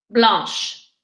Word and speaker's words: blanche: All the ones that don't end in E will get an E pour féminin but the only ones the pronunciation will change are the ones we did. Verte, violette, blanche et grise. Why did you put the adjective first?